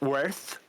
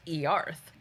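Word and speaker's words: Oerth: Some people swear it's pronounced worth. No, it's Earth because how we spell it is pronounced Earth.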